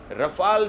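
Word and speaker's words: Rafale: बड़ी कीमत चुकाई है रफाल विमान के लिए देखिए दोस्तों सबसे बड़ी बात ये हो जाती है क्योंकि राफाल विमान को जब खरीदा गया राफेल जिसको कह देते हैं रफाल भी उसका प्रोनाउंसिएशन है उसको जब खरीदा गया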